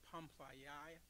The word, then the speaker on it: Pamphylia: I didn't look up the phonics on these, but that's a Western pronunciation. Amen. Pamphylia in Egypt. Amen. P-A-M-P-H-Y-L-I-A.